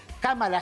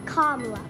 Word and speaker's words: Kamala: It's not Kamala. It's Kamala. Kamala Harris. Kamala's for our schools. Kamala's for affordable child care. That's Kamala.